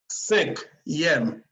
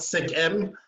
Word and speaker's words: cinquième: Cinquième, yem. Not cinquième, but you have to pronounce the yem.